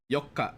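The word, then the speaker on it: 四日: Yokka is how you say the fourth calendar day.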